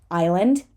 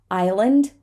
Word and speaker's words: island: in the moment so silent s like I said before an SL situation is very often going to end up with just sounding just like an L Island aisle oh I'm sorry Island dark Ellen Isle Illinois